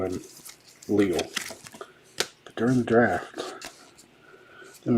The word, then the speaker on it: Leal: I pronounced it Leal, but during the draft last year they called him Leal, so we're going to go DeMarvin Leal to the Steelers.